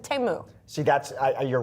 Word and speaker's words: Temu: lawmakers are calling for an import ban on all goods sold by Temu.